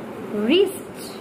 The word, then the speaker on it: wrist: Reason is whenever you just notice that your word is starting of the letter first W and after the W word is R, there R. When you will have to leave the sound of W and you just leave the W while the pronouncing words, right, wrote, written, wrist, wrong.